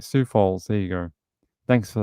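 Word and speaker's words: Sioux Falls: stor all right so we just pronounce it like Sue like the lady like a female name all right Sue Falls there you go thanks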